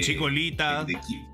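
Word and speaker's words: Chikorita: y hablaban de de Chicolita Chicolita era Chicolita, ¿te acuerdas? Era con L, porque los japonos no pronuncian la la R, cachá.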